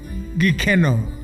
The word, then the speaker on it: Gikeno: So let's talk about the brand new song, and I want to make sure I pronounce it right. Gikeno.